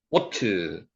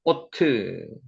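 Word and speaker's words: אות: 은혜가 % 졌다는 겁니다 오트 오트 표입니다 표 오트 요게 요게 오라는 발이죠 위에 가면은 바보의 위에 점이 지키면 오 발음을 합니다 그래서 오트 표라는 뜻입니다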